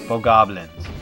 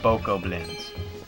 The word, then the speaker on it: Bokoblin: Not Bogoblins. Bokoblins.